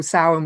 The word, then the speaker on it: Samhain: a Halloween you know which you call Samhain which I'm always really scared of pronouncing to an Irish person because it makes no sense when I read it you're a bang on you've got it right, yeah, um and the